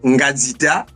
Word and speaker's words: Ngazita: nom en entièeté exactement vous avez bien prononcé mon nom c'est ngazita mais j'ai deux prénoms